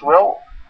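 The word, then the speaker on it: واو: Alors, pour prononcer le waw, il y a la chaîne en France W9. W, ça se prononce wa. Comme en anglais, what is your name? Et bien, le W se prononce waw.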